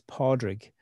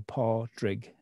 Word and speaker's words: Pádraig: It's Pádraig, two syllables, paw, almost like the paw of a dog, and rig, rhyming with oil rig. So Pádraig is how you say my name, just in case you were wondering.